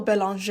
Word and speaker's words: Belanger: Just realized that for pretty much this whole video, I am mispronouncing this poor woman's name. Her name is Michelle Belanger.